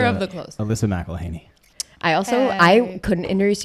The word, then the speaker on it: Mcelheny: My husband's family pronounces it Mcelheny.